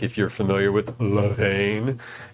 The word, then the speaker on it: Levain: They are supposed to be Levain style cookies, which is like, if you're familiar with Levain, it's like, you have to say it like that.